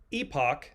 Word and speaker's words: epoch: And then the last thing they said was an awakening, in quotes, an awakening of epic and epoch, that's how it's pronounced in British English, epoch proportions.